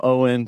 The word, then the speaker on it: Eoin: I'm Owen, despite how my name is spelled.